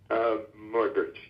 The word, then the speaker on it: Muybridge: So it's Edward Muybridge.